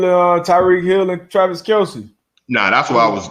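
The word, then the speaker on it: Kelce: linda jefferson oh yeah we are pronouncing kelsey's name it's kels apparently oh it's kelsey i i heard i heard him come out he just came out and said that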